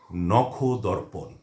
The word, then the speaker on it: নখদর্পণ: তো এই শব্দটির উচ্চারণ হচ্ছে নখদর্পণ।